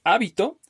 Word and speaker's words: hábito: Les decía, por ejemplo, la palabra hábito. Es hábito, habito o habitó. Número, número, número. Entonces, dependiendo de cómo es que yo vaya cambiando la sílaba tónica en la palabra, cómo vaya a pronunciarlo, va cambiando la pronunciación, la palabra va a asumir diferentes significados.